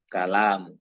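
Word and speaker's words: الكلام: Beda lagi nanti kalau ini ada alif di sini, ya, sehingga jadi begini. Maaf. Ya. Nah, ini dibaca kalam.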